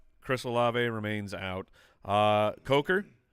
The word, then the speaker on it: Coker: La remains out uh Coker or uh sorry uh J yeah that's Cocker okay thank you just just double- checking that we still got the pronunciation correct of the Panthers he